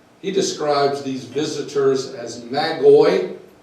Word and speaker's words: magi: describes these visitors as McCoy or Maggie we pronounce it may guide well you may know